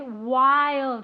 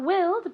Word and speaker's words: wild: this wild wild okay wild not wheeled but wild two syllables Wild One More Time